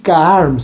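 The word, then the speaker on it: Kharms: Mire, les traje un cuentito chiquito para contarlo, para que vean la locura del Danil Karms. Se escribe Daniel en ruso, con dos i, y Karms, K-H-A-R-M-S.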